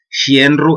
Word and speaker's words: xenru: Aunque algunas veces escucháislo pronunciar como xienru, e incluso con S, xienru. Pero bueno, en asturiano, bien dicho, sería xenru.